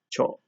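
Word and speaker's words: ちょ: problem at all, because if you know that this character says chi and this character says yo, you put them together and you get cho.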